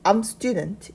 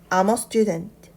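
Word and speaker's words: I'm a student: 정확하게 익힐 필요가 있습니다 어 발음이 들어가면 암 어머라는 발음이 나는데요 다시 한번 어의 유의해서 읽어 볼게요 아머스튜던트 정확하게 읽지 않습니다 흘리듯 읽어주세요 아머스트 아머 스튜던트 그럼이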